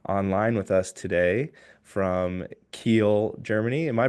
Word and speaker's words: Kiel: Clint Hansen online with us today from Kiel, Germany. Am I pronouncing that correctly? Is it It's Kiel? very easy to pronounce, yes.